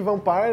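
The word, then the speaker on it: Vampyr: E é bom dizer também que Vampire é a pronúncia correta do nome, e eu digo isso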